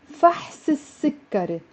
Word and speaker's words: فحص السكري: طلب فحص السكري. Notice how I pronounced it as one word with a liaison.